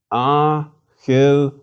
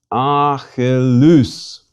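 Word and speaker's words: Ἀχιλλεύς: Achilles. Again. Achilles. Was that a smooth or rough breathing before the alpha? Smooth. The last syllable is a diphthong.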